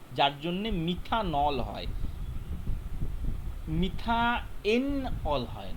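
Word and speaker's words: methanol: যায় এই লাস্টের ইটা আর হয় না, এটা উচ্চারণ হয় মিথান অল অর মিথানল, ঠিক আছে?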